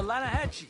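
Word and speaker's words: Lannahechee: atlanta hassenville no no no no no the lana hatchy it runs right near here yeah but it's pronounced a hassle why is everything in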